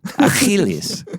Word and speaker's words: Achilles: The CH is... Achilles. So get your Hebrew chops going.